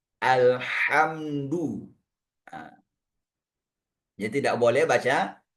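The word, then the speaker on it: الحمد: Ah, di antara imam yang saya temukan ini ah dia baca ha di alhamdu menjadi ha besar. Ah, itu juga makna yang salah bacanya alhamdu.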